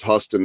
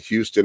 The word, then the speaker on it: Huston: make the mistake like everyone else that it's pronounced hustin not Houston and that kind of actually helps because it'll